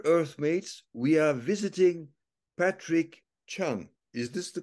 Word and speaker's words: Patrick Chun: uh dear Earth mates we are visiting Patrick Chung is this the correct pronunciation of your name absolutely correct yes wonderful